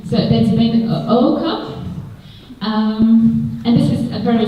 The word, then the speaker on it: Ooko: And it's a challenge to pronounce his surname because you have to pronounce two O's at the beginning. So that's been Oko.